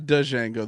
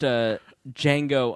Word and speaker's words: Django: It's not Django. The D is silent. Oh, excuse me. That's what she said. I watched Django Unchained.